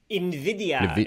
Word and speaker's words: NVIDIA: NVIDIA. It's like the Spanish NVIDIA. Word for envy, which is why their logo is a green eye.